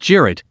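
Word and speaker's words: Cirit: a traditional turkish horseback game sirit pronounced jared where two teams of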